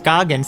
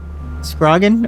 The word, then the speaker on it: Scoggin: the creepy man okay so it's actually prounounced Scoggin how was I how was I pronounce it I mean I I see it now maybe I thought there was an r in it scrogin or something I don't know how